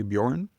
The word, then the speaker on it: Bjorn: And I'm pronouncing your name correctly, Bjorn? That is right. You got it. Bjorn.